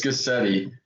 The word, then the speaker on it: Guscette: Yeah, it's that everyone says my last name wrong. Well, how do you say it? It's Guscette. Guscette.